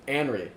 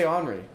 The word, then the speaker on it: Anri: Um, it's the same thing with Anri. I always want to say Henry. I always want to pronounce that wrong.